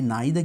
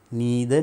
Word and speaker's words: neither: නැහැ කියන අදහස එන්නේ මෙන්න මේ neither කියන වචනේ. Right? neither නැත්තම් neither කියලා pronounce කරනවා. Right?